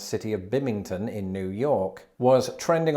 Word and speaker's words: Binghamton: be bim hamilton no according to wikipedia it's binghamton is it binghamton is that real anyway the impossibly hard to pronounce city of bimington in new york was